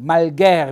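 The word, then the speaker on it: malghèr: c'è pochissimo da dire quindi malgher vedete un bell'accento tonico e fonico aperto sulla e finale plurale malgari e il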